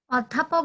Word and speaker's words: অধ্যাপক: যেমন যদি বলি অধ্যাপক, অধ্যাপক যদি বলি এটা যখন তুমি উচ্চারণ লিখতে যাবা তখন কিন্তু অধ্যাপক লিখতে হবে, ঠিক আছে? এটা কিন্তু মুখ গোল করে তোমাকে বলতে হবে, এটাই হচ্ছে সংবৃত।